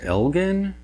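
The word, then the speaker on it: Elgin: And one of you informed me very recently, apparently this is actually pronounced Elgen.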